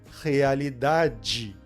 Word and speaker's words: realidade: Então a letra D pensa, isso não é um E, isso é um I. Então eu tenho que falar realidade.